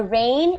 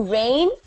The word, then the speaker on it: reign: is a rule you Reign a kingdom or a country okay for example the Egyptians reigned in Egypt for three or 4 thousand years ago okay and this word is pronounced exactly as rain you know when it